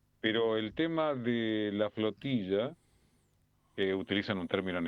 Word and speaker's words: flotilla: Pero el tema de la flotilla, eh, utilizan un término en español porque en inglés no existe el término flotilla. En inglés le dicen flotila porque no saben pronunciar la tampoco. Bueno, algunos de los nuestros tampoco, mucho.